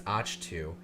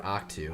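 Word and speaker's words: Ahch-To: That's the new pronunciation that we're hearing lately, is Achtu, which I would have preferred Octu. I like Octu. It just sounds better.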